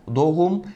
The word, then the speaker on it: doğum: aynı mantık söz konusu mesela doğum derken doğum demiyoruz bu yanlış bir telaffuz doğum yolu Zeynep